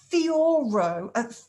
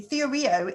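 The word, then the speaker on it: θεωρέω: very gemini mercury thing theore no theo rio sorry i'll try and pronounce it correctly theoreo is the ancient greek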